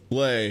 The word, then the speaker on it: Lei: Lei. Yeah. Why do you say horse, Ty? It's just an assemblage of limbs, faces, and whatnot. Cuz their name rhymes with nay.